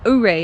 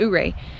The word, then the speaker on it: Ouray: Ouray is how they say it. Ouray.